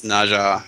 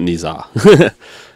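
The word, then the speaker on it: Ne Zha: It's Naja. Yep. Ah, so it's not Niza. Naja. It's how it's spelled, but not how it's pronounced.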